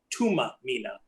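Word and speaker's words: Thuma Mina: And it's pronounced, it says Thumamina, but it's pronounced Tuma Mina, and it means send me.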